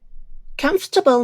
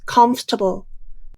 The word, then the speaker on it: comfortable: the buses are air-conditioned comfortable means it makes you feel relaxed remember the pronunciation of this word is comfortable not comfortable there are only three syllables in this word let's look at some